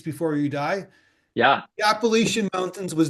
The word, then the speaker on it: Appalachian: that you call it Appalachians. Is it Appalachians or Appalachians? Appalachian is how we say it. I Appalachians? mean, there's a lot of different like Okay. pronunciations of it, but we say Appalachian.